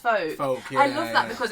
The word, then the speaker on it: FOAC: with the acronym and then said what about folk theater? Oh I see. So it's pronounced folk.